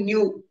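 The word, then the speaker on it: knew: K-N-E-W, new.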